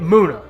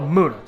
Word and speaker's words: Munna: I'm gonna say it Munna I think it's called Munna like moon stone Munna I think that's how it's pronounced so I'm gonna say